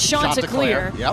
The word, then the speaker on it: Chanticleer: the first question is how do you say it and it's shot to clear yep and these are